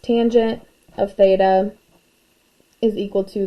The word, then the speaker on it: tangent: adjacent over hypotenuse and our last one is abbreviated as tan but again still pronounced tangent of theta is equal